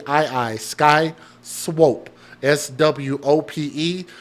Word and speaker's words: Swope: i i Sky Swope s w o p e so with that o being in the middle it's a singular o instead of two o's with that P following the vowel I think you pronounce that as long o instead of short so I think it's Swope shout out to my